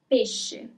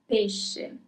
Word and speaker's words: pesce: Pesce. Pesce.